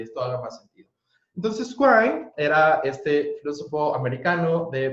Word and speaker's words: Quine: Entonces, argumento de indispensabilidad de Quine, ¿no? Entonces, se escribe Quine, pero se pronuncia Quine, ¿vale?